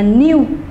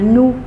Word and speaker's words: new: Còn cái từ này, mình có thể đọc từ này là new. Mình cũng có thể đọc từ này là nu. Đấy, cái trường hợp của chúng ta đều có thể đọc là U, hoặc cũng có thể đọc là U, không sao cả nhá.